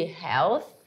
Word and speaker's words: Health: seja problemas de saúde Health que tem aquele som do th no final já sabe como faz ele né língua entre os dentes e dá uma soadinha aí que você vai conseguir fazer tem um com som e o sem som Esse aí não tem